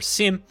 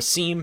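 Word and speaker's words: SIEM: events monitoring platform or Sim or seam depending on how you pronounce it that is best I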